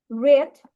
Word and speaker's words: read: সো আমরা সেটা ইংলিশে লিখবো they have রেড Read the book. The book. Okay, রিড না, রেড হবে উচ্চারণটা। Read. পাস্ট পার্টিসিপলে আমরা রেড বলি।